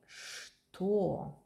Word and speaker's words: что: When you hear чт and t together, you have to pronounce ш to don't sound like ch. But што это?